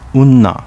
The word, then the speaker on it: Onna: for u.s military bases onna village pronounced unna in uchinaguchi is home to beautiful